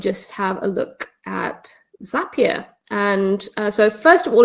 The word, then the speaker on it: Zapier: the page that says zapier makes you happier so it rhymes just thought i'd throw